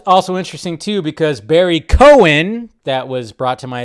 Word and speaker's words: Cohen: interesting too because Barry Cohen that was brought to my attention I've been saying his last name wrong but apparently it's Cohen uh he posted this